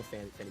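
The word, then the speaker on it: Fani: She goes by the name of Fannie, even though it's F-A-N-I. She wants to pronounce Fannie.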